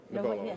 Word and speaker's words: Knovolo: I'm down here at Mobile Internet World, and I am joined by Greg Bouwens with Knovolo. The K is silent. Knovolo. Knovolo, the K is silent.